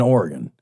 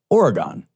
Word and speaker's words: Oregon: and my grandparents and i would pronounce it oregon oregon oregon sure and my grandfather would give me no end of he's like it's oregon not oregon and i'm like it